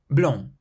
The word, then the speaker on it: blanc: Blanc.